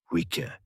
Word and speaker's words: Hwicce: The word starts with a breath. Weaker. To say it properly, you have to exhale a little first. A soft aspiration deep in the throat before the lips round into the W.